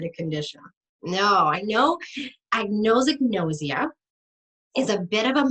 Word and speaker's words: anosognosia: It's anosognosia, and you'll impress people if you pronounce it correctly. The A in anosognosia means no or not having any.